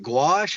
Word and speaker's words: gouache: I was like I've like done some pieces with like gouache.